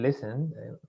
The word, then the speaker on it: listen: Ojo con el listen, la T no se pronuncia, siempre es listen.